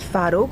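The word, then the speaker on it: twaróg: Um I mean sometimes it is spelled with a V in different East European shops but in Polish the V is a W.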